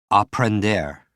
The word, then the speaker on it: aprender: Aprender. For me, sounds like a blender, which means to learn.